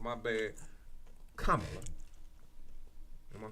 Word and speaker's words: Kamala: we G Kam my bad I be saying kamla my bad Kamala am I saying K yeah K I ain't